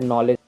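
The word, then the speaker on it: knowledge: जैसे नॉलेज, यहाँ पे नाइफ, यहाँ पे देखिए नी, यहाँ पे देखिए नॉप, तो इन सब चीज़ों में हम के साइलेंट रहता है।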